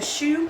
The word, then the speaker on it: choux: huh we're going to make a paste a shoe paste as it's called c h o ux I believe it's spelled you can better turn it down a